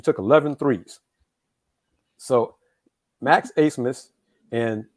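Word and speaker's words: Abmas: 15 attempts he took 11 threes So Max acemus and it's the last name is spelled a b m a s but it's pronounced asmus he had he's a guard six foot guard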